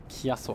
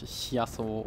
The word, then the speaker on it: Chiasso: Insofern, es wird ja auch Chiasso ausgesprochen und nicht Chiasso oder so. Das ist ja dann tendenziell die italienische Aussprache.